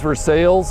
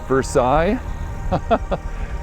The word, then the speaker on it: Versailles: midway and versailles kentucky it is for sales it is not pronounced versailles if you ever visit the area don't make that mistake if you call it versailles you will get laughed at for sales kentucky there's some